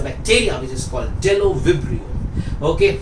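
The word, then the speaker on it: Bdellovibrio: एक और बैक्टीरिया का नाम आपको याद रखना है, इसका नाम है डेलो विब्रियो। याद रखिए, डेलो विब्रियो। Delo, B is silent, but Delo विब्रियो नहीं बोलते, डेलो विब्रियो।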